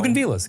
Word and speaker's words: bougainvillea: Bougainvilleas, got it. Via. That's what I said. No L. Bougainvillea. No L in the pronunciation at least.